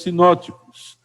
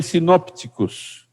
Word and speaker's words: sinóticos: Os 3 primeiros, como eu creio que muitos já sabem, são chamados evangelhos sinóticos. Também se escreve sinópticos, com um P mudo aí no meio.